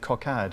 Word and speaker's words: cockade: white coad or cockade I think coad is the pronunciation required by the Rhymes in the poem which of course is